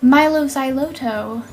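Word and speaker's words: Mylo Xyloto: Milo Xyloto.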